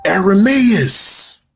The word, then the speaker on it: Ermias: Greece, they pronounce Hermes Ermias. I'm going to say that again, and I'm going to sip. Ermias. Okay. All right. They turn the H sound into a A. So it becomes Ermias.